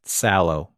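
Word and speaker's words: Salò: freddie got fingered and salo 120 days of sodom mm-hmm and we were informed actually on the episode where we covered it it's actually pronounced sallow oh that's right the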